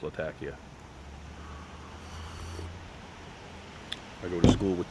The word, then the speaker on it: Latakia: my first taste of Latakia Latakia it is pronounced Latakia I go to school with two women from